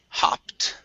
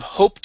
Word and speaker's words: hopped: next up is uh the word hopped yeah instead of hoped in my father hopped in